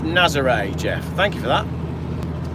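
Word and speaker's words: Nazaré: It's pronounced Nazare.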